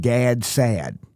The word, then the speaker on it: Gad Saad: There's a guy named Gad Saad, G-A-D. His last name is S-A-A-D. Yeah, that's a Southern pronunciation of his name.